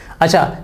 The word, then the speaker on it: a: लेकिन जब आप इसको आर्टिकल की तरह पढ़ते हैं ना तो आप इसे ए नहीं पढ़ते, आप इसे अ पढ़ते हैं।